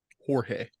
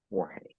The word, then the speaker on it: Jorge: He doesn't have the endurance for it, so Jorge, Jorge. Jorge. spelled like George with a J.